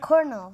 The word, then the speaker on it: kernel: Kernel.